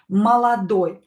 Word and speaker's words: молодой: So I pronounce this O as A, this O as A. They are in a weak position. Молодой.